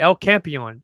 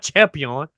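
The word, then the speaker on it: El Campeón: You gotta say it right. El Campeon. It's not champion.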